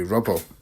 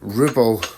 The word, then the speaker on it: rubble: Mason is PED by the way they pronounce Rubble which would be Rubble like the sh off of the stuff that's knocked down or off of the ends of stuff so Ribble would be the Scottish terminology for this type of